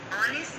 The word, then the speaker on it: honest: H, as in an honest man, an honor, an earth, an air. Students, hear all these words, the first letter H is silent and the second letter gives the vowel sound.